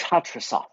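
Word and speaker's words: Hattrassath: Yes, that would still be preferable, to be honest, but my true full name is Hatrasoth. I can't spell that.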